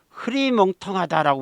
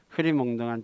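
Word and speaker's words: 흐리멍덩하다: 다음에 또 한 가지는 흐리멍텅하다라고 우리 많이 알잖아요 흐리멍텅하다 흐리멍텅이 아닙니다 허리 몽동해야죠 몽땅 이렇게 너무 강하게 바람나면 정신을 바짝 나기 때문에 흐리멍덩하지 않고요 여기에 발음처럼 흐린 멍덩해야지 흐리멍덩한 정신이 깨어납니다 그래서 이렇게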